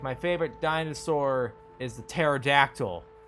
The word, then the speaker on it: pterodactyl: They forgot to pronounce the P and pterodactyl. Did God, you're not supposed to pronounce it.